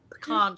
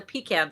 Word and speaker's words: pecan: not not not a not a pean tree it's a pecan tree a pecan tree yes there's a whole argument about which way people say it right yeah I think